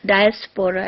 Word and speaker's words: diaspora: diaspora am I right how would you really uh pronounce the word diaspora as per the dictionary it is diaspora not diaspora diaspora I checked on